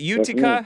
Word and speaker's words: Utica: And is it Utica? How do you pronounce?